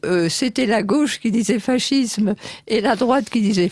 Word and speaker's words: fascisme: À l'italienne, je vais dire fascisme.